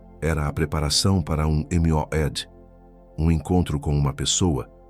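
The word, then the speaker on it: מועד: Pronuncia comigo em voz baixa se precisar, mas pronuncia Moed.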